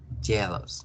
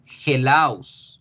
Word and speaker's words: jealous: Jealous. Bien, perfecto. Celoso. Celoso. La palabra celoso en inglés empieza por J, pero yo no voy a pronunciarla hellos, ni voy a pronunciar hellos.